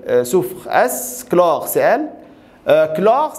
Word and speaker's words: chlore: p sofres chlore celle chlore ça se prononce clore ses ailes c'est pas